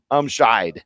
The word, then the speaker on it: Umscheid: Umscheid. That's how you pronounce it.